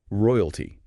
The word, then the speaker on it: royalty: Royalty. Three syllables. R O I U T. Stress is on the first.